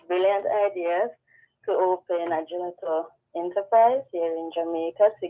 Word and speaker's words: gelato: a brand called Infini Gelato, and I believe the Italian pronunciation is gelato, Infini Gelato.